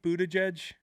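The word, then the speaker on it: Buttigieg: this Brad Stevens kind of looks like Pete Buddha jej that's right good pronunciation did I is that a thing yes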